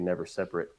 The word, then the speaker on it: NeverSeparate: that does it but most most people do pronounce it wrong it's actually meant to be never separate oh I'm gonna separate well it's the it's the adjective form the not the verb form of separate gotcha never separate a